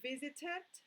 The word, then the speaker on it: visited: so let's say here visited pronunciation visited but in this one the E doesn't sound that is we traveled